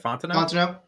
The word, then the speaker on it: Fontenot: Fontenot. Fontenot.